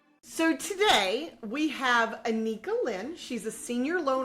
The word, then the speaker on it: Annika: My first name is pronounced Annika.